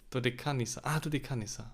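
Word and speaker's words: Δωδεκάνησα: Do you want to learn to pronounce it like a Greek person? Oh, go ahead, of course. Ðeksiʻa. Dodekanisa.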